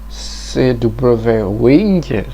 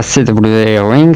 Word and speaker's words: CW Ring: Alors maintenant, nous allons parler de votre projet qui est la bague CW Ring. Alors c'est pas CW Ring, c'est CW Ring. Ah, excusez-moi. CW Ring, parce que ça se prononce à l'anglais, ça.